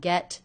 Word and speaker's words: get: get dinner should we get dinner I noticed that the T here is a stop T I don't release it it's not get dinner it's get get get get dinner get